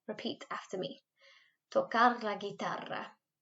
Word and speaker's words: guitarra: Tocar la guitarra. If you can't roll your R's, don't worry. Just say it like tocar la guitarra. Okay, like send the R sound.